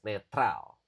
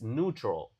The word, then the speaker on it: neutral: In Indonesian, of course, we we say this word as neutral, right? But in English, it it is neutral.